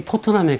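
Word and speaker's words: Tottenham: 토튼햄인데, 이제 영국 사람들은 뭐 지네 발음대로 뭐 토트넘 하면 토트넘인 거예요, 그죠? 내가 뭐 발음을 그걸 토튼햄이라 하면 안 되나? 아, 시끄러워. 우리가 영국 사람이야. 이러면 그냥 토트넘이에요, 그죠? 그래서 그런 거 시비 걸지 마시고.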